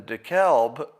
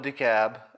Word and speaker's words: DeKalb: If you put an extra letter in the spelling of your county, I'm going to pronounce it any fucking way I want. And I'm going to pronounce it with the L. Get rid of the L. If you don't want me to pronounce it the wrong way, get the L out of there.